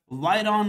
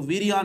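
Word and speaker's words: virion: एक वर्ड, ये मिलते जुलते वर्ड होते हैं, वायरस होता है, वायरॉन होता है, या जिसको वीरियान भी प्रोनाउंस किया जा रहा होता है।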